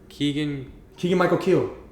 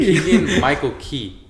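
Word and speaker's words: Keegan-Michael Key: No, it's Keegan Michael Keel.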